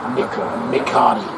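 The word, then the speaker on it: Mikaere: Yeah, he said it's pronounced like Bacardi. Bacardi. But with an M. McCarty.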